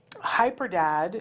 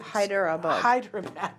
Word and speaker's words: Hyderabad: We are from Hyderabad. Hyderabad. Thank you. Hyderabad. Boy, I saw that totally different than how it's spelled, didn't it?